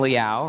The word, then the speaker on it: Liao: Here to explain more are Charlie Chang and Liao, rhymes with meow.